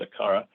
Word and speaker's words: Aqara: But the presence sensor is called the ACARA, and it's AQARA. There's no U in it. So it's AQARA. They pronounce it ACARA, and it's FP2 as a product.